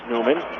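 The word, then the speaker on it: Nyman: near side corner Newman that's lus Newman learn that that's how you pronounce his name the native of H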